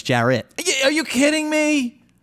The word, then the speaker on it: Jarrett: are you kidding me it's not Jared it's Jarett yeah are you kidding